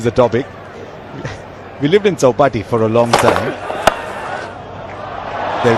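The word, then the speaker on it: Chowpatty: When it's Marathi words, you pronounce it exactly the way it should be. Chaupati, Ganpati Visarjan. It's not like Chaupati.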